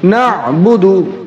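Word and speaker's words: نَعْبُدُ: এখানে আইন হা দুইটি হরফ ফলকের মধ্যখান থেকে উচ্চারণ হয়, আমাদের একটু খেয়াল করে পড়তে হবে। বা পেশ বু, বা পেশ বু, দাল পেশ দু, দাল পেশ দু, না বুদু, না'বুদু, আমরা দুইটি শব্দ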